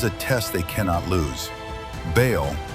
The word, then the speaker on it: Baal: Baal, pronounced Baal, was the storm God, the lord of thunder, lightning, and rain.